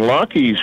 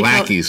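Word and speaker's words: Laki's: Oh, that's how you pronounce it? Lockheed's? I guess I've been saying it wrong. So I call it Lackeys. Lackeys? Oh. Okay, it's Lockheed's. L-A-K-I.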